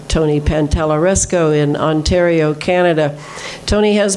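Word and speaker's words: Pantalleresco: Now, the heavy metals, I have to recommend Tony Pantalaresco. P-A-N-T-A-L-E-R, oh wait, T-A, wait a minute. No, I couldn't say his name for five radio shows. Now I can at least say it. Pantaleresco, Tony Pantalaresco in Ontario, Canada.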